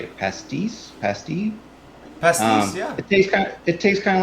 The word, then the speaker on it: pastis: Pastis, yeah.